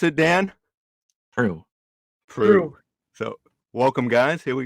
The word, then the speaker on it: Proulx: How do you pronounce it, Dan? Proulx.